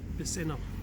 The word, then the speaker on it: Bisinna: Bisinna, alright, that's how you pronounce it.